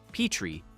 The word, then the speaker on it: Petrie: In 1959, Reiner wrote and shot a pilot called Head of the Family, starring himself as Rob Petrie, pronounced with a long E. Petrie, rather than the short E that Van Dyke later used.